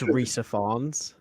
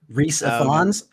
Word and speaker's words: Rhys Ifans: Anyway, I'm pretty sure it's Rhys Ifans. Reese Ifans. I think so. I don't know. Okay. That's the pronunciation I heard.